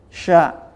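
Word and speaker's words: شَ: Sya, bacanya sya. Jadi suara angin di tengah lidah ini harus banyak.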